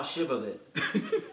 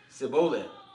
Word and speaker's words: Shibboleth: they said unto him say now Shibboleth and he said Cibola for he could not frame the to pronounce it right now this is all